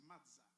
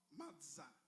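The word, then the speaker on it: מצה: Cela se prononce matzah. M-A-S-T-H. M-A-T-S-T-S-A-H. Cela se prononce matzah.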